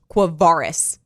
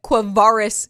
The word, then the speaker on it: Quavaris: By the way, his name is pronounced Quavaris. FYI, for people out noted. there. Yes, noted. Note that one. Write that one down. Re-listen to it. Quavaris Crouch.